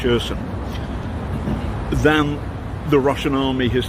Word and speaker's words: Kherson: The Ukrainians have now taken more land near Kherson, it's spelt with a K but pronounced with an H, Kherson, than the Russian army has taken in the Battle of Donbass.